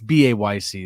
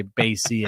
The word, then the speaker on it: BAYC: know too much and it's not BC it's ba YC that's right ba YC we spell it out we don't say basy and Macy and get that out of here um yo